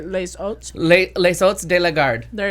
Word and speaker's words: Les Hôtes: Well, you'd say the S because the H is silent, so you'd say les oats.